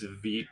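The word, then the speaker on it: Vite: I think it's ve though, so yeah. Yeah, Vit rhymes with feet.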